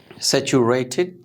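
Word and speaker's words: saturated: आ, ये यूं समझे ऐसे, आ सैचुरेटेड, टिड की साउंड आएगी, ठीक है।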